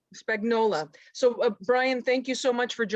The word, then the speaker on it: Spagnola: Okay, so we have Brian as your name is pronounced Spagnola? Spagnola. Spagnola.